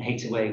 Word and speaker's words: Hathaway: away she threw and hit away was an alternative pronunciation of hathaway but that wasn't mentioned